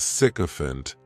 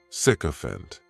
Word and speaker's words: sycophant: The next noun is sycophant, and this noun has 3 syllables, and the stress is on that first syllable.